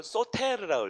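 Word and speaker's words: σωτήρ: 이거 소테르라고 읽어야 돼요.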